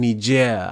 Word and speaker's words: Niger: know in in in Nigeria I think the right way to say it is Niger but I usually I usually call it Niger but the president was